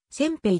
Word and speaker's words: 煎餅: 作られている九州などではせんべいおせんべいでなく尖兵と半濁音で発音する人もいるにか